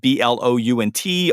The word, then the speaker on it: Blount: comom and my last name is spelled b l u n t although it's pronounced blunt uh you can catch